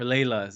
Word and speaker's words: Layla: Masnavi is the Sultan hears about Layli or Layla as some pronounce, and he wants to see what the big deal about her is.